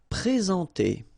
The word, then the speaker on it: présenter: Okay, remember when we've got this accent aigu like that on the top of sorry, then you should pronounce it e. All right, and then you combine the two en nasal en.